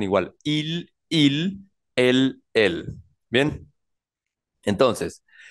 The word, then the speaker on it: il: entonces se pronuncia tu luego él ella se pronuncia IL IL y ella se pronuncia el el IL